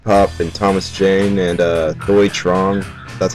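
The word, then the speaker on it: Thuy Trang: The sequel, Crow, City of Angels, starring Iggy Pop and Thomas Jane and Thoi Trong, that's how you pronounce it, the Yellow Ranger.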